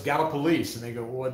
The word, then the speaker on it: Gallipolis: the best one because everybody says is it gallopolis is it uh gallipolis galapalos and no it's gala police and they go well it doesn't look like